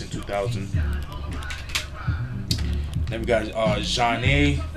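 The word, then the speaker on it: Zhané: Then we got Zhane, pronounced Jah-Nay, released in 1994.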